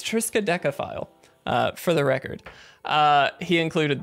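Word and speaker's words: Triskaidekaphile: And if you look at the back, he actually wrote on there, how do you pronounce this? There it is, from Country Fried, guys. It's Triska Decaphile, for the record.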